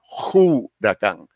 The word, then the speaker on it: huracán: dicen los estudiosos eh originalmente se pronunciaba juracán juracán como si tuviera una J Lo mismo que sucede